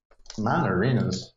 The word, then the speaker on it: Mon Arenas: MAN and then arena yeah. like arenas. Mon Arenas.